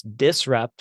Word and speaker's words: DISRxUPT: i SRX U PT so the x is silent like uh we have in so many other Pharmacy related things um so we had